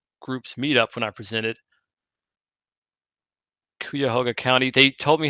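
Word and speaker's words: Cuyahoga: site of that group's Meetup when I presented kuoga County they told me how to pronounce this and unfortunately I'm not remember remembering how it includes kayah hoga thank you Kevin it includes the city of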